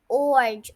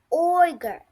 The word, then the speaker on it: ogre: Hey, please don't pronounce it like orge or ogre. It is ogre, okay?